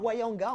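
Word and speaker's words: Ounianga: Ça se prononce Wayanga, en fait.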